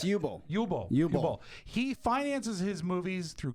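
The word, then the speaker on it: Uwe Boll: I think it's UI B O L L and he it's Yubo.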